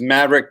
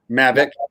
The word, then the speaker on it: Mavic: I mean so first let me correct you it's medic Mavic quick laugh I've I've I've heard that I've heard it pronounced different ways though I've heard it pronounced mimic me you know what okay that would have a little bit more credibility than maverick because there's no in there so but now it